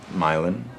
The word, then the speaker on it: Milan: Milan, it's spelled like Milan, Italy, but pronounced Milan, like Milan, Ohio.